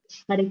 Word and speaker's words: Hare: The words Hare, pronounced Hare, Krishna, pronounced Krishna, and Rama, rhymes with Rama, are Sanskrit words.